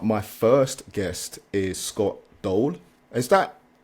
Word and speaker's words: Doel: decided yet but my first guest is Scott Dole Is that how you pronounce it it's it's the right pronunciation for